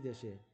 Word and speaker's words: the: হয়েছিলেন এবং তার বিরুদ্ধে মামলা হয়েছিল তার নিজ দেশে, সেটি বলা হচ্ছে এখানে।